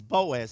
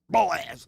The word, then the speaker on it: Boaz: His name is Boaz. That's a very unusual Jewish name. In fact, it only has 2 syllables, and that's like his father is Elimelech, right?